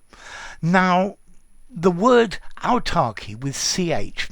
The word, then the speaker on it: autarky: y now the word autarky with ch notice they both sound the same um talks about a